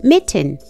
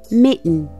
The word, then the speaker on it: mitten: Pero justo cuando lo vas a pronunciar, cierras la garganta y mejor pronuncias el sonido n.